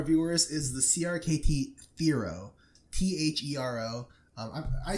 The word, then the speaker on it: Thero: What we're talking about to our viewers is the CRKT Thero, THERO. I'm spelling it out because everyone tells me to pronounce everything wrong.